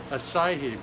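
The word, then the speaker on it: açaí: that acid Berry hacky Berry how do you pronounce that acai berry okay so this is it what else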